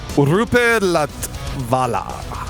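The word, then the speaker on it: Roope Latvala: Yeah, so their guitarist, can you even pronounce his name? Me? Is it like Roop or? Rupe Latvala.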